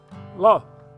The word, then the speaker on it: Lauth: it's my delight today to be with lo and i pronouncing that right there that's exactly right bill